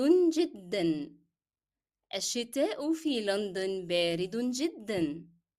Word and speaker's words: جدًا: However, here in جدًا, though I'm stopping, I will not drop the sound of n. That's because it's a part of the pronunciation of the word. you cannot drop it. If you drop the sound of n here, the word will not be correct.